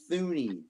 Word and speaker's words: Thuney: His last name is pronounced Thuney. No, it's not. It's Tooney. Yes, it is.